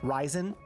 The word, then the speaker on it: Ryzen: Puggy, that doesn't help me when you spell it like that, telling me how to pronounce it. Gosh, Puggy. The stump holds my iron base. Oh, nice. I sound Ryzen.